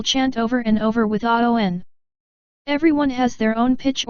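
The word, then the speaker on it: Awen: The Aun. Pronounced Aon.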